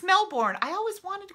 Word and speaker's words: Melbourne: And I see Liz just said, as in Melbourne. Is it really Melbourne?